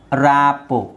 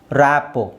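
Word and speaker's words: rapport: ballet ballet ballet ಹಾಗೆ ರಾಪೋ ರಾಪೋ ಇಲ್ಲಿ ಆರ್ T silent ಆಗಿರುತ್ತೆ ರಾಪೋ ಬಫೆ ಬಫೆಟ್ ಅಲ್ಲ ಬಫೆ ಬಫೆ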